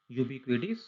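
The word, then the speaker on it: ubiquitous: Okay, तो देखो यहाँ पर आपका आ गया जो मैंने बताया था, यूबिक्विडिस। यूबिक्विडिस। अच्छा, यहाँ पे टी है, टी को ट नहीं पढ़ना, ड बोलना है इसको।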